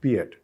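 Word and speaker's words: Peillat: Until 5 years back, Gonzalo Piet, P-E-I-L-L-A-T, pronounced Piet.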